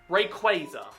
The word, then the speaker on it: Rayquaza: on the R, so they took away the R at the end of Quasar and came up with Rayquaza. So therefore, it is pronounced Rayquaza. Not Rayquaza, not Rayquaza, it's Rayquaza.